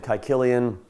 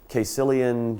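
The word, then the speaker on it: Caecilian: Yes, I pronounce it kyillian. You'll hear quilian.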